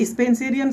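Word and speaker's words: Spenserian: से शुरू होता है, लेकिन अगर मैं इसके प्रोनाउंसिएशन की बात करूँ तो ये ई से शुरू होता है ना।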